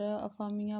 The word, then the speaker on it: افامیہ: شرط عائد کی تھی۔ یونانی شہر کا نام ایپیفانیا ہے، جبکہ تلفظ کے لحاظ سے عربی میں یہ بگڑ کر افامیہ بن گیا۔ بہت قدیم شہر ہے